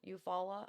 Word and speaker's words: Eufaula: Eufaula.